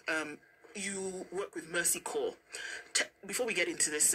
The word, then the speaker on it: Corps: what does it do and when we say core here it's the French word spelled c o r PS um so tell well pronounced well pronounced a challenge cops cops yes I know cops is a dead